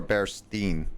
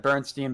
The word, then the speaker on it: Berenstain: s-t-e-i-n at the end but it's actually spelled with an a-i-n and it's like what did you call it bear stain or Berenstein that's the thing I said I pretty much said Bernstein Bears when I was